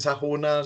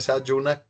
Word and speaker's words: Sayuna: Algunos le dicen Sajuna, se pronuncia Sayuna, cómo ingresar, cómo funciona